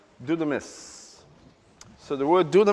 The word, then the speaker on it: δύναμις: it in greek delta upsilon do sometimes it's pronounced do the must but it's do the miss so the word do the mess what does